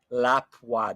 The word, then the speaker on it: Lapua: please ban him because it's not La Pua it's Lapua lapwa that's the proper pronunciation word um all right